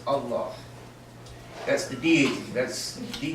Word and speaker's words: Allah: And I bear witness that there is no God but the God, who is Al-Ilah, which is correctly pronounced as Allah.